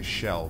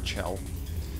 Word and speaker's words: Chell: I just want to say Shell because of, it's how you would pronounce the name Michelle, spelled the same, but I've been picked up many a time for saying Shell, I need to say Chell.